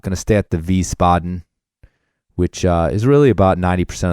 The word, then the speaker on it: Wiesbaden: Oh, by the way, that's spelled with a W. Just so you know, Wiesbaden, German style W's.